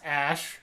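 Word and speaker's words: Æ: like that so yeah which is pronounced ash ash yeah right the a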